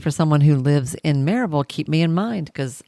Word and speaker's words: Maryville: I lived in, and still do, in Maryville, Tennessee, which is pronounced Maryville by the locals.